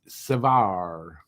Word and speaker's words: Savard: We had Serge Savard. That's how it was pronounced on TV, right? So I know it's okay, but I've been told a few times last season it's Savard. Don't pronounce the D.